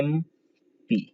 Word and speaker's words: MP: जब इन संक्षेप शब्दों का उच्चारण करते हैं तो देखिए MP ऐसे होगा, MP, ए आ रहा है, इसके पहले क्या लगाएंगे, एन लगाएंगे।